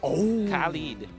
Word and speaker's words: Khalid: I wonder if Burmese Ghouls can play Benedetta or Khalid. Or did I pronounce that correctly? Yeah, Khalid.